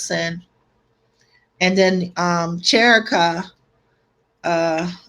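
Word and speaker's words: Synne: means blah blah blah but send this spell s-y-n-n-e you know so you know yeah we're gonna pronounce this sin and then um jericho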